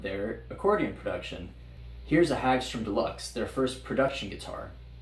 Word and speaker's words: Hagstrom: Builders in Europe had a different response, however, and one of these brands was Hagstrom, or Hagstrom, if you want to pronounce it correctly. It was founded by Albin Hagstrom in 1925 in Älvdalen in Sweden.